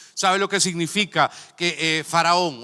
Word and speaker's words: Faraón: Por eso la pronunciación correcta de Faraón es Faraón, o sea, el hijo de Ra.